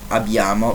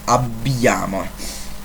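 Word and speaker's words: abbiamo: you can see that there are two b's written because the consonant is long it's not abiama but it's abbyamo i'll do a video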